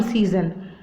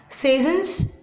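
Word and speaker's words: Cézanne: So likewise here, Ambrose also started to get those works, modern arts, from the artists, not only from Cezanne, from many other, and he started to give it off.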